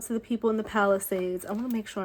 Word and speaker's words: Palisades: my heart goes out to the people in the Palisades. I want to make sure I'm saying it right. It's not Palisades, it's Palisades, I believe.